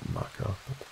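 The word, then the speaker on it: Makar: Les lockhead who was born in 1947 was the Makkah and that is per pronunciation the maker it's it's phonetically spelled marker the maker the official poet of Scotland basically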